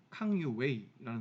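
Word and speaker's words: 康有为: 근데 그런 갑신정변, 갑오개혁 정도에 해당하는 운동이 벌어지니 그 운동이 변법자강운동이라고 하는데, 이 변법자강운동을 이끌었던 사람이 한자 그대로 쓰면 강유위고 중국 발음으로 발음하면 캉유웨이라는 사람인데, 이 캉유웨이라는 사람이 했던 변법자강운동에 중요한 영향을 미치기 때문에 그때 다시 한번 보겠습니다.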